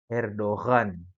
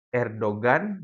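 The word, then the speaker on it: Erdoğan: Namun gaya bahasa zaman dahulu gumusnya G itu dibaca Erdoghan. Erdogan. Ya. Adapun di bahasa kita sekarang yang dipakai di Turki sekarang ini seakan-akan yumusyag itu huruf hurufnya tidak ada ya. Jadi dibacanya apa? Erdogan yang kita lihat itu G yang ada ee topinya itu dibacanya Erdogan ya.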